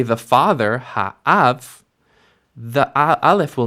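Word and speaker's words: הָאָב: And so the vowel actually compensates for the loss of the dagesh by changing into a kamatz, and you end up with ha'av. Now, in classical pronunciation, again, you would hear this difference. You would hear hamayim, but instead with av, you'd hear ha'av.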